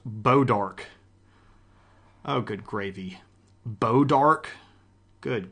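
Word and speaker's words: Bois d'Arc: Uh, that's why Missouri has towns like boys pronounced Bodark.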